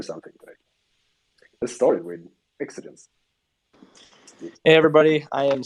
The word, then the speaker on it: Exxagens: Exxagens. Did I say it right, Paulus? Yeah, Exxagens.